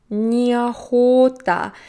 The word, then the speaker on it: неохота: Неохота. Again, look at the pronunciation. Неохота. So we do reduce that one о.